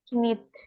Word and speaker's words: knit: menyul itu melanjutkan Ya, knit, bacanya knit, kayaknya nggak dibaca ya.